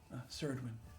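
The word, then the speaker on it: Saredwin: Ceridwen. Ceridwen.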